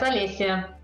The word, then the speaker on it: Olesya: First thing I really need to check with you is I've never checked with you the pronunciation of your name. So is it Olesya? Yes, Olesya.